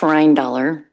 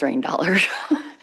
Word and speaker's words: Reindaler: So it's pronounced Rhine dollar, although I'm pretty sure every tribal member says Rhine dollar. So I might give it up and just go back to Rhine.